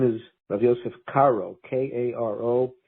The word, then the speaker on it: Caro: shogunate as rav joseph cairo his name is joseph caro k-a-r-o nothing to do with the city of cairo it's a very common